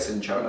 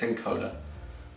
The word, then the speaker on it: cinchona: It looks like cinchona, but it's Cincona.